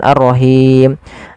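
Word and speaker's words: الرَّحِيم: syamsiah kemudian pfal arrahim hati-hati di lafal ha ha kecil Jang arrahim nanti merubah artinya ha dari pangkal Maaf dari tengah tenggorokan kita kemudianfal himim ada Mad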